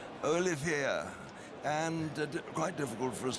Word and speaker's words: Olivier: Olivier is not Olivier like Lawrence, but he's Olivier.